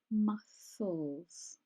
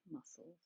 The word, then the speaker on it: muscles: to repair and strengthen muscles is one of those words I often hear mispronounced that C is silent muscles okay so it's not a hard C muscles resting your joints to